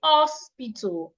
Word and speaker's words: hospital: An average Nigerian would say hospital, hospital. Instead of hospital, the H should be heard.